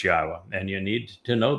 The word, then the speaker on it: Yahweh: U so be aware God's name is pronouncable. It is Yahwa. There is no B sound in the original Hebrew language.